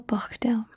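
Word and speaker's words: bochdew: know how to spell bachdal let's go through it b o c h d e w you really have to emphasize that c h brilliant perfect doing great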